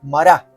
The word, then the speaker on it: Mara: Por eso le pusieron el nombre de Mará, es la pronunciación en hebreo.